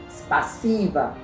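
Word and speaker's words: спасибо: Escreve-se S-P-A-S-I-B-O e pronuncia-se spasiba, spasiba.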